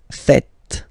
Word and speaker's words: faites: It's vous faites, vous faites. Okay, so remember final S here is not pronounced, and then this is not pronounced either. So, faites, faites, vous faites.